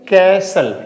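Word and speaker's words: castle: तो सी ए एस टी एल ई यहां पे बीच में टी है तो हमें टी साइलेंट करना है। ठीक है? यहां पे डब्ल्यू ए टी सी एच ठीक है तो इसे क्या बोलेंगे? कैसल क्या बोलेंगे इसको?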